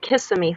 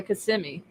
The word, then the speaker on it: Kissimmee: when I first moved to the South, I used to call it Kissimmee, Florida, because I had no idea how to Yeah, pronounce no, it.